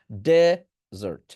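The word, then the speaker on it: desert: মিষ্টা জাতীয় খাবারও বোঝায় তো যখন আপনি মরুভূমি বোঝাবেন দে টাকে জোরে উচ্চারণ করবেন ডেজার্ট ডেজার্ট ডেজার্ট দেকে জোরে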